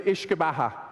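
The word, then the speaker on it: uisce beatha: In Irish, the original language of the Irish people, it's translated to Ishkabaha, okay? And when the English started ruling the Irish, they couldn't pronounce Ishkabaha, so they just started calling it whiskey, okay?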